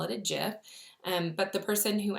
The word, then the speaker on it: GIF: seems funny that I would call it a jiff and but the person who actually developed the